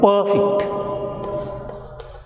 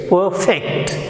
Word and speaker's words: perfect: the stress should be, focus should be on the second syllable, that is fect, perfect. When it will be pronounced as, when it will be uttered as perfect, it will become a noun. Otherwise, when it will be pronounced as perfect, it will be a verb.